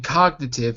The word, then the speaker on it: cognitive: The first G in cognitive is not a H, it's a G.